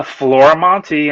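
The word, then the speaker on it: Florimonte: go on to the Googles and type uh Flora Monty I'm pretty much the only one doing comics and you spell it as you can see on there f-l-o-r-i-m-o-n-t-e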